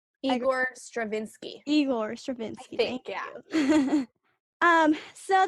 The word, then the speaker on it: Igor: tchaikovsky and uh how do you say that iger igor stravinsky eagle or stravinsky thank you um so the dancers go